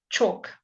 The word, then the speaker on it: chalk: talk talk talk walk chalk talk walk chalk okay all a l k all sounds o chalk walk talk all